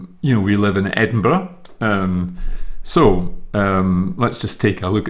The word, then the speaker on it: Edinburgh: Now, I should just highlight here that the way you pronounce Edinburgh is as I'm saying it, Edinburgh. Edinburgh. And it's not called Edinburgh.